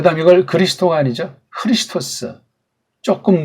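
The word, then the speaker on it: Χριστός: 이에수스라고 읽어야 됩니다. 그 다음 이걸 그리스도가 아니죠. 크리스토스.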